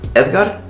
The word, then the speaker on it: Edgar: I'm Mexican ameran so my name is actually pronounced Edgar but Edgar fine cuz nobody can say